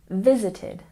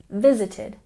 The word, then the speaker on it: visited: a look at pronunciation we stress the first syllable in visited visited and pay attention to